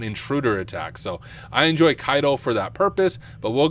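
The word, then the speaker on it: Caido: what I'm going to use or it's actually pronounced kaido I realize I've been saying it wrong this entire time but it is pronounced kaido now the reason I use kaido is it's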